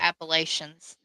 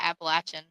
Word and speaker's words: Appalachian: to say this being from there, but the Appalachians. Hey, they don't call it that. you'll be shunned. You are shunned. Yeah, I'll never be allowed back in Virginia again Really? because it's the Appalachian.